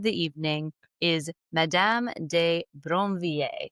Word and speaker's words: Brinvilliers: But Bronier is how we're going to say the name. It's okay if you roll your R a little cuz I think it comes out naturally.